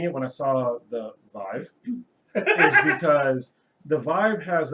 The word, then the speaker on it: Vive: cell phone it's pronounced it's pronounced um Vive it Rhymes it rhymes with five okay there you go